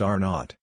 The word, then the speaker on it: R naught: the basic reproduction number or r0 pronounced R naught this is an estimate